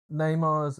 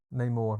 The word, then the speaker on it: Namor: There's a lot of Neymar's. What was it? It's not Neymar, is it? What's his character called? Namor. Yeah, Neymar's a footballer. Namor.